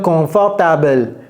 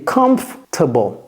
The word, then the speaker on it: comfortable: Vous allez entendre des choses comme confortable, confortable, confortable. Non, c'est comfortable. Comfortable comfortable comfortable.